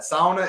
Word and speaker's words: sauna: mispronounce words there is it's from Finnish Grandparents were finished all that sauna is how you do